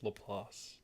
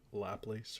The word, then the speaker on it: Laplace: And uh yes, it's lelass, not laplace or lelace.